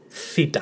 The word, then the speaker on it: theta: in a Greek word, it's always pronounced th, as in theme, theory. And remember, different to how you pronounced delta, which is there and then, this is th, not the, it's th. Theta, theme, theory.